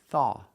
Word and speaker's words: thaw: The action, thaw. Pronunciation, use a TH with no voice, just air. And the AW makes the aw sound. Thaw. Like saw and law. Aw. Together, thaw.